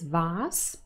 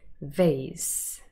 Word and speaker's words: vase: word is vaz now here we actually have two different pronunciations british pronunciation is vas but american pronunciation is vase vase for our practice i'm